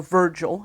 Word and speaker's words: Virgil: people Publius regalius morrow or Virgil as he's normally pronounced in English was born on October